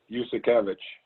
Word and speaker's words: Uszakiewicz: Yusakevich. I'll spell it for you.